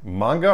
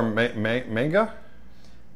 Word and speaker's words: manga: Manga or manga? Yeah, it's pronounced manga, but a lot of people say it's manga.